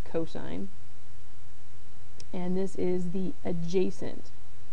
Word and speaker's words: cosine: Now the second trig ratio we are going to discuss is cosine of a abbreviated as cos but pronounced cosine and this is the adjacent side divided by the hypotenuse.